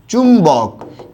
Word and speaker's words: চুম্বক: অর্থাৎ এখানে বফলা দ্বিত্ব করবে না শব্দের মাঝে বা শেষ থাকা সত্ত্বেও।